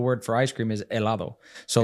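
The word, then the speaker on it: hielo: a ear yeah so it's spelled with an H but H is silent in Spanish a is ice cream yes that's right El is ice cream see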